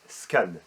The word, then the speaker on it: SCAN: Et c'est un acronyme, donc c'est-à-dire un sigle qui se prononce comme un mot normal, qui s'appelle SCAN.